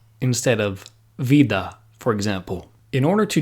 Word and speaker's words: vida: always pronounced like VA it is very common in Spanish-speaking countries to pronounce the V like a b and say Bida instead of Vida for example in order